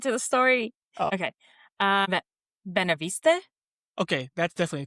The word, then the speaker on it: Beneveniste: Can you pronounce that? Hold on, I'm trying to get to the story. Oh. Okay. Beneveniste?